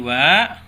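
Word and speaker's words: は: Jadi kalau dalam huruf hiragana ini dibacanya ha, seperti tadi partikel yang ini ya, partikel wa ini. Ini juga sama, bukan dibacanya ha, tapi dibacanya wa ya, seperti itu.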